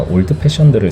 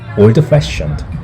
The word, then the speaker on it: Old Fashioned: 내가 올드 패션들을 시켰는데 잘 못 알아들었다. 나중에 알고 보니까 내 발음이 구려서라고 했다. 선생님이 올드 패션드 이렇게 해야 된다고 했다.